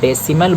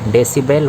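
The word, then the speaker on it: decibel: में कंफ्यूजन होते हैं कि वह डेसिमल बोल देते हैं जो कि डेसिमल नहीं होता है इसका स्पेलिंग बी डेसीबल होता तो अब यूनिट ऑफ़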